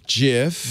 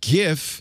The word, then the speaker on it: gif: this she'll eat it soft g pronunciation jif jeff peanut butter rotated on the other side on the other side gif with a hard animated images now here